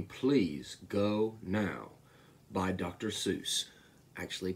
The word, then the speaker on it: Seuss: Seuss. Actually pronounced Seuss, but The time has come.